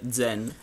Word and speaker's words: Xen: xen no pronunciato Cioè è scritto xen ma la pronuncia sarebbe Zen di cui dal Vabbè